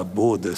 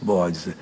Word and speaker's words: bodas: Essa palavra bodas significa, eh, o pronúncia é bodas mesmo. Há umas pessoas que eu já vi falar bodas, coitados, bodes. São as namoradas dos bodes aqui é bodas.